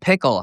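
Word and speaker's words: PIKL: he is done with Pickle, P I KL, however you pronounce it. One of the many brands that you know sounds like Pickle. Pickle seems like a fair bet for that one.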